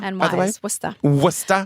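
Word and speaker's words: Worcester: Cross I am worldly it's w waya w but it's spelled like Worchester I know I know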